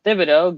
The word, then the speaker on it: Thibodeaux: last news for college football we have kayvon thibodeaux going over to the uh nfl that's how